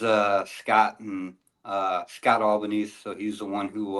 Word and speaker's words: Albanese: the comments recently and I blew my mind albanes like Lebanese yep yeah is there a Mr Albanese is it a family name yeah so uh there's uh Scott and uh Scott albanes so he's the one who uh started the